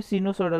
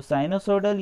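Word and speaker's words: sinusoidal: जाता है, वो भी सिनुसोइडल वोल्टेज ही कहलाता है। ठीक है, तो साइनोसोइडल या सिनुसोइडल बोल सकते हैं इसको, जिनका जैसा प्रोनाउंसिएशन हो से बोलते हैं। मैं साइनोसोइडल भी बोलता हूँ, सिनुसोइडल भी बोलता हूँ।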